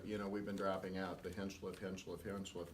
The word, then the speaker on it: Hinchliff: been dropping out the Hinchliff name because half the community mispronounces the name and refers to it as Hinchcliffe. And if you look closely, there is not an extra C in there.